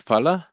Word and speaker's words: phala: I think when I listen to you, I always remember when you say PH, you always have the F sound. It's not F. You pronounce the F sound, but it's actually PA, PH sound. Can you give me an example of what word?